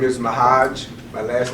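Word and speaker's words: M'Hajj: My first name is Mahaj.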